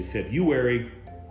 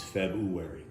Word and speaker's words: February: that's how it's pronounced there's two r's a lot of people say february much like january i